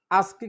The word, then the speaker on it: ASCII: এই দুইটা আই কিন্তু ওয়ান না, আস্কি কোড বা এসকি কোড দুইটা উচ্চারণ করে।